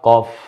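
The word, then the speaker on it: كاف: কাপ বানাতে হলে প্রথমে আপনি এই যে আকৃতিতে ব্যাস আছে বাইরে, এটা তৈরি করুন, মাঝখানে একটা এসের মতো লিখে দিন, হয়ে যাবে কাফ, পাতলা আওয়াজে কাফ।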